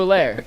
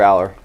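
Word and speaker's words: Allar: Number 2, Drew Allaire, Penn State. He sucks. Go ahead. Drew Aller.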